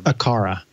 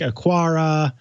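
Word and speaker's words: Aqara: me how i i'm pretty sure you just pronounced it correctly right there akara you could be wrong let's let's double check yeah because i think we were saying like a kwara quara yeah i think it's a cara so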